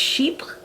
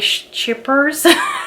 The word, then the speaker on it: Chypre: Based on the French I know, I'm pretty sure it is pronounced Chypres. But then sales associates will say Chypres. So I'm not sure if they're like Americanizing the name, or I'm pretty sure they're called Chypres.